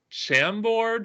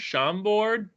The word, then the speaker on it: Chambord: um specifically specifically uh I think it's pronounced Chambord sham board do you know what